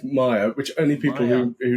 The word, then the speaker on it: Meyer: Uh, only the pronunciation of my surname which you might need to record. Yeah. So it's it's Maya which only people who